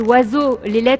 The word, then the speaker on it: oiseau: Je donne un autre exemple, oiseau, toutes les lettres de ce mot ne sont pas prononcées.